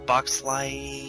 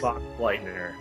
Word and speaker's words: Boxleitner: I don't know how to say his last name. Bruce Boxlight. Oh, Bruce Boxleitner.